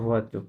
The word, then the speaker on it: voiture: taxi, কি বলে taxi, taxi, taxi, taxi, voiture, ভুয়াতো, correct, bus, bush, bus, নট bus, bush, bus,